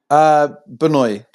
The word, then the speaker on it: Benoy: Is it how you pronounce it, Benoy? Benoy, but Benoy.